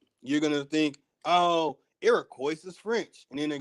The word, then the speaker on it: Iroquois: these i'm going to show some words and iroquois y'all and i will be busting the move